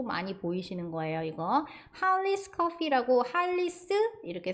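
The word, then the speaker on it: Hollys: 이렇게 써 있는 거 보이실 건데이가 발음 나죠 그리고가 아 발음 나고은 두 개가 으니까 한 번만 해 주시면 되죠러 하고는 e 바름나요 거기 S 붙인 거예요 그래서 할리스 리스 이렇게 발음해 주시면 되고요 리스 같은 경우에는 할리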